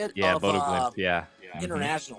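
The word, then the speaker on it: Bodø Glimt: Yeah, Bodo Glint.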